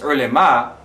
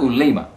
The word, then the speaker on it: Ulema: It's Ulema, not Ulema.